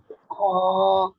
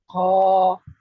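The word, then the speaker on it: خ: গলার শেষ ভাগ থেকে বাংলা খ অক্ষরের মতো উচ্চারণ হবে, একালিপ টান হবে। ক্লিয়ার?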